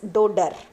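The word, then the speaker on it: dodder: which plant donor plant pronounce it as dodar okay don't pronounce in this way dodar okay then leaves are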